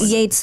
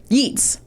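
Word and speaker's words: Yeats: something in any case I meant Yates the poet from like yeets oh is it pronounced yeets oh now I'm thinking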